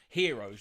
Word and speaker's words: gyro: donna kebabs over here but you call them heroes but you spell it gyro which over here is unemployment benefit it's pronounced hero you know and it's